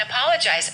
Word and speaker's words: apologize: you wait once again with the O and apologize open your mouth a paw apologize stress the second syllable I apologize for making